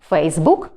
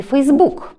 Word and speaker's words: Facebook: малої літери До речі слово Facebook має подвійний наголос тобто правильним є Facebook і Facebook Отже Сьогодні ми з